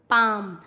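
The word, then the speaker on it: palm: एम से पहले CALM काम, बाम, पाम।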